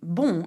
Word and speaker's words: bon: few examples, such as bon, which is good. Bon. Très bien. Now, note that if you add an N and an E to bon, it becomes bonne, and the sound changes completely.